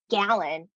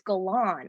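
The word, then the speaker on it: Galan: correctly she will say it's not gallon it's galon or she will just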